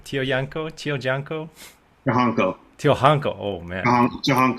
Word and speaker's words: Tiojanco: say your last name Tio Yanko Yanko oh man so the Tio is pronounced Cho oh um yeah one